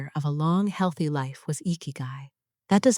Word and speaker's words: ikigai: Ikigai, pronounced ikigai, is spelled with two characters.